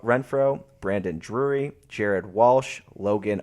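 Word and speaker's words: Renfroe: ohtani Anthony Rendon former World Series champ Hunter renfo Renfro Brandon Drury Jared Walsh Logan Oh happy we checked the pronunciation on that one and David Fletcher rounds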